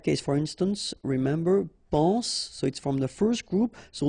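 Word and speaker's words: sois: Okay, then of course être and avoir, so être will become soit, remember final S is not pronounced, soit, then soyons, soyez, alright?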